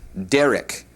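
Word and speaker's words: דרך: The word way is a feminine word and is pronounced derek.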